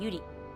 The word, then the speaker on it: Yuri: The we don't have R and L difference. So my name is Nauri. I'm I'm Yuri.